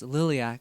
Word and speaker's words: liliac: in Romanian my dad's all like oh it's Lilly ak and we're like oh my gosh that's the